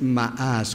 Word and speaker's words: ma'as: La palabra hebrea es ma'as, con doble A y acento en la última A, y significa desdeñar, pero también significa menospreciar.